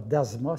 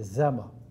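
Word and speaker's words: dzama: C'est pas Dasma, c'est Zama. Ça se prononce, c'est écrit D-Z-A-M-A.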